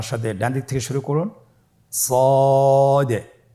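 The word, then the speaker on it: ص: সদ হরফটি পুর হরফ। মোটা হরফ উচ্চারণ ক্ষেত্রে মোটা করে পড়তে হবে এবং উচ্চারণ করার সময় তিন আলিফ টেনে পড়তে হবে।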